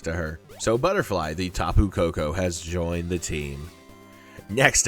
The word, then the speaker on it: Tapu Koko: His name is TAPU KOKO. Oh man, that was fucked up. Do you want TAPU KOKO?